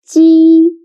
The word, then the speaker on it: 鸡: 鸡 sounds a little bit like the first sound of Jeep. But when pronouncing G. Your tongue should be more flat, and you need to stretch your mouth to both sides. G. Listen to me carefully and feel the difference.